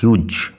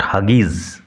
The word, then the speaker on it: Hughes: আজ আমরা পড়ব ক্লাস 12 ফোর্থ সেমেস্টার প্রথম কবিতা হক রুস্টিং বাই টেড হিউজ। উচ্চারণ লক্ষ্য করো, টেড হিউজ, নট হাগিজ, টেড হিউজ।